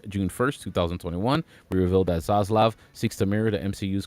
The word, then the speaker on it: Zaslav: WBD CEO David Zaslav. Did I say his name right? Zaslav? Yeah, that's actually correct.